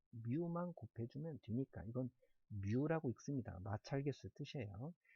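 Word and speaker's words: μ: 에다가 마찰 갯수 위험한 곱해 주면 되니까 이건 뮤 라고 읽습니다 나찰 겠어 뜻이에요 미코 쌓인 남자가 됩니다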